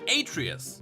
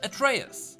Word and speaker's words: Atreus: name I called him Atreus but that name has origins in the Greek mythos and it should be pronounced at Reyes betrayers it is probably